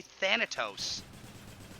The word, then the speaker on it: Thanatos: refused it yes well that's because that's how they say it in the game they say thanatos yes exactly you said